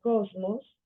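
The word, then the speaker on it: κόσμος: idioma español por ejemplo la palabra eh Goku no sé bien mundo sabiendo que se pronuncia Cosmos ya vemos la relación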